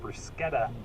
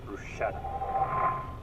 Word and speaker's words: bruschetta: time as any to make sure you're saying bruschetta and not bruschetta that's all for us